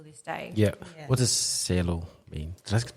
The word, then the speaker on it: cielo: What does cielo mean? Did I pronounce it right?